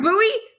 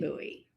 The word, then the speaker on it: Bowie: You're in Bowie?